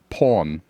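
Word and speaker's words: pawn: And so the way British English pronounces it, it's like or. So we say porn.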